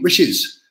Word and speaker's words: Riches: Riches rhymes with bitches.